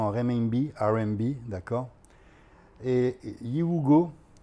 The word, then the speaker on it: Yiwugo: Bee R'n'B d'accord et Yugo comme ça se prononce c'est une application comme